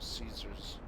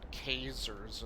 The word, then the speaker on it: Caesars: mouse does too except she pronounces it casers instead of caesar's like i've heard caesar i've heard kaiser from uh fallout new vegas but but caser that's not how you pronounce that word i'm pretty sure of